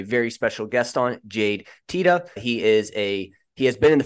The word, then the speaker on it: Teta: But so my name is Teta. It's the correct pronunciation. I'm Italian background. The correct pronunciation is Teta. Obviously Italian.